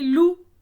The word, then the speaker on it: loup: Alors, coup a un P muet également, donc loup également.